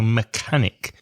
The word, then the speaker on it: mechanic: professions a mechanic again that CH that's a hard Kurt sound so mechanic m e CH a n IC mechanic for example a car